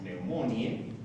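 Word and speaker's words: pneumoniae: Clásicamente se escribe tal cual estamos colocando neumoniae, pero pronunciamos neumonie.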